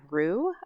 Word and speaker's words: Roux: sent to me by Rue I believe is how you pronounce their name r-o-u-x and uh I asked